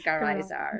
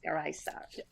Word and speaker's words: Garaizar: And then the Z, you pronounce it in Spain, you pronounce it as a TH, like a th. But in Latin America, you pronounce it as an S. So the English way to pronounce it is Garaizar. Garaizar. Yes. Or Garaizar. That's the Spanish way I pronounce it, but in Latin America, it would be with an S, Garaizar.